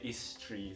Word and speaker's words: isteri: You just say istri, so tri is like it kind of blends into each other.